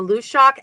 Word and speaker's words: Luidaeg: The Lushak actually is a Scottish folkloric figure. And her name is spelled Luideag.